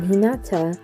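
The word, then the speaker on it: 日向: translates to facing towards the two kanjis can also mean sunny place or in the sun when used in normal speech rather than a saram name in which case they can be pronounced in hinata this could be a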